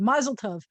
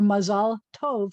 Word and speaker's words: mazal tov: You may have heard the word mazel tov, which is a Yiddish pronunciation, or mazal tov, which means good luck or good fortune, which means that we didn't have any of these words.